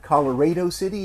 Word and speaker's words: Colorado City: and then on to what i hear is pronounced uh colorado city is that right larry colorado city uh texas where i'm